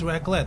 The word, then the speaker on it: raclette: Is it raclette?